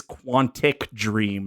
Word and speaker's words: Quantic Dream: feel the need to point out that it is Quantic dream not quantity I said the wrong